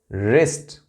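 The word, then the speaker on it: wrist: यहां देखें आप, W सभी साइलेंट है, W W W W एंड W। यह है राइट, wrong, रिस्ट, रेसलर, wrinkle.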